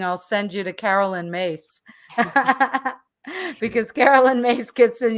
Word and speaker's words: Myss: good she's greek uh so mace is prone is spelled myss and at one point